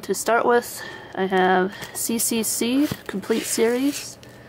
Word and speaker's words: CCC: And to start with, I have CCC, Complete Series. You can also pronounce it as Choo Choo Choo.